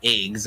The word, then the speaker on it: IGZ: my bad igz oh is that is it not eggs how do you say your name it is okay perfect oh it is eggs i'm sorry uh eggs i will remember that